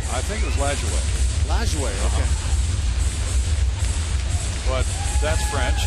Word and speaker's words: Lajoie: How did he pronounce his name? I think it was Lajoie.